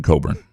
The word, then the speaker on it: Cockburn: a h m it's no different than cockburn being Coburn David Jackson what have